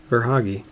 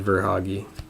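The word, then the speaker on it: Verhaeghe: i guess then huh or hoggy it looks like i should have said ver hoggy but i didn't austin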